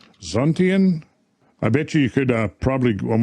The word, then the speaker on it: Xuntian: You had it correct. It was Zhuntian. I just pulled that up. Oh, okay. Zhuntian.